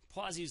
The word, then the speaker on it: Poiseuille: seen it written and I had to look up how to pronounce it um because I never took French so poas law what does poas